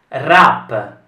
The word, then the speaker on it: wrap: meglio che cambiamo parola wrap la w non viene pronunciata red ren e la